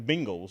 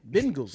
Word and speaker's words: Bengals: and more bingos but I would hear Bangles right like oh it's the Bengals but I do like well that's the thing from your region y'all say bingo bingos yeah right which is